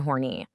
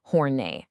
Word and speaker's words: Horney: Today we are diving into the incredible work of Karen Horny. And let's get this out of the way right up front. It's pronounced Hornet.